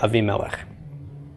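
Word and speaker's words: אבימלך: a V MLA yeah a V melech just like Avraham instead of Abraham aside from the vowel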